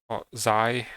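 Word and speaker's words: Xi: install on xy because zai how they tell it should be pronounced but i will say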